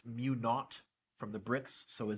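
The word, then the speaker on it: mu naught: I over L you with that zero is pronounced mu not from the bricks so a zero is a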